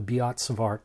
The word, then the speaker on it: Biot-Savart: now this is uh something called uh the beats of art law written in its magnitude form and the way you'd spell that is b i o t s a